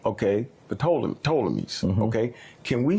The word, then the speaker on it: Ptolemies: Usually people say Ptolemies. Ptolemies. Ptolemies? They don't usually pronounce the P. Okay, Ptolemies.